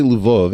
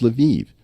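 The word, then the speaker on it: Lviv: way if I say Luv everyone's gonna correct me and say no no Eric it's levieve it's like no these spit these cities all have multiple pronunciations I I always thought of lavov was a Polish City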